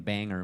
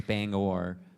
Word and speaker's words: Bangor: got made fun of for saying Banger Maine apparently it's Bangor uh but it's Leon